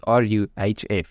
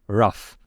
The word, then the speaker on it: RUF: stupid name and then I Googled it to make sure that I'm like pronouncing it correctly and they say it pronounce it r u h f so literally rough by the way in